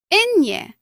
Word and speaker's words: ñ: Ñ is a separate letter in the Spanish alphabet. It is not simply an N with a decoration. Its sound is similar to the N-Y combination in the English word canyon.